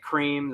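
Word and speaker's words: Creme: you had cream worms nick cream that is spelt c-r-e-m-e there was hog hunter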